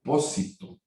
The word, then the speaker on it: pósito: Uno que se le llamaba pósito, con acento en la O, y que eran silos